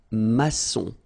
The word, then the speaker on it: maçon: Here you can see that we've got this little cédille beneath the C, okay? And it just means that you will pronounce this C as S, okay? So that's the reason why. It's un maçon. Son, okay? O-N in your nose, nasal, un maçon, all right?